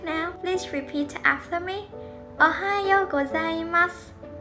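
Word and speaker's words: おはようございます: Ohayo gozaimasu. Ohayo gozaimasu.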